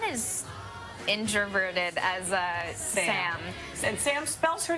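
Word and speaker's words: Sa5m: I'm very happy like Gabriella, but I'm not as introverted as Sam. And Sam spells her name in an interesting way. Yeah, how is it? S-A-5-M, the 5 is silent.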